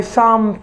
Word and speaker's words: thumb: last group is the words that have silent b number one sum my thumb finger hurts this is my thumb finger some not some some thumb sum where is your thumb finger here you